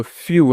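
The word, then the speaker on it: few: उसके बाद देखिए एफ ई डब्ल्यू है ना, तो एफ से दोस्तों यहाँ पे फ, और ई डब्ल्यू, तो ई डब्ल्यू से यहाँ पे यू, तो फ्यू है ना, समझ गए।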